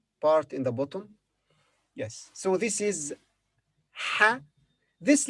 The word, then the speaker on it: ح: So this is ha. This letter has no English equivalent. Its pronunciation is similar to the English letter H, ha, but more from the throat.